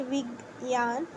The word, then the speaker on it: Vigyan: Vigyan, pronounced Vigyan, means knowledge or understanding in the context of this text.